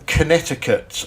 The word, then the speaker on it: Connecticut: america it is in connecticut i believe ah okay yeah so that's quite a hot count or if you read it correctly connecticut it's how it's spelt yeah and no way